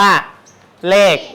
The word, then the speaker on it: เลข: ภาษา ไทย กำหนด ให้ คำ ว่า เลข เขียน แบบ นี้ แต่ ว่า เวลา ออก เสียง เรา ก็ ออก เสียง เหมือน ตัว ก ไก่ สะกด ปัญหา แรก ที่ เรา